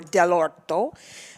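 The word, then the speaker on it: dell'orto: friend in providence who is the importer for del orto which is spelled d-e-l-l apostrophe o-r-t-o which means from the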